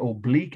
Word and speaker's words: oblique: you're writing it correctly you don't spell it like the vegetables not b l e e k it's o b l i q u e of course oblique or